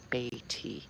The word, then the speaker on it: Beatty: This is my neighbor Beatty over here. I always say it wrong. Beatty.